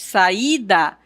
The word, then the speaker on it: saída: E quando nós estamos pronunciando a sílaba, o i será tônico, ele será mais forte. Saída.